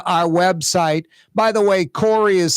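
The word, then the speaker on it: Kaare: By the way, Corey is spelled K-A-A-R-E.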